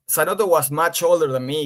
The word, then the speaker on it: Zanotto: Have we pronounced that right? Juan? Yeah, Juan. Juan Zanotto. Yeah, Zanotto.